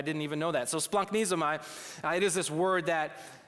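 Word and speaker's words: splagchnizomai: Like, you actually pronounced it right. They're Greek, and they actually use this word. I didn't even know that. So splunknizomai, it is this word that it takes compassion to a whole new level.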